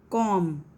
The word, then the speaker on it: comb: Comb. B is silent.